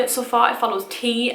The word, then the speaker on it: Tea: far it follows tea i'm calling her tea not tear because her name is spelled t-e-a and where i'm from that is something you dunk your biscuit into and have for an evening meal so she is called tea she has a family